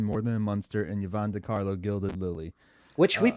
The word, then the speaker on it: Yvonne De Carlo: Grandpa, Fred Gwynne, More Than a Munster, and Yvonne DiCarlo, Gilded Lily. which uh we've been saying her name wrong.